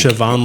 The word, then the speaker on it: Siobhan: Her name's Siobhan, but they call her Shiv. She is so hot, bro. She's like Siobhan, like the Irish Siobhan, like where it's spelled crazy.